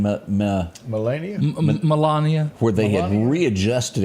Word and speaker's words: Melania: I did read a thing to where, how do you pronounce his wife's name? Melania? Melania.